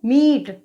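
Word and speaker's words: meat: एम ई ए टी इसको हम ई ए इसमें आ रहा है तो इसका उच्चारण हम क्या करेंगे, मीट।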